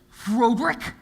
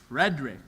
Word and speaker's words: Frederick: then your first name do you pronounce it frodi no Frederick well why isn't it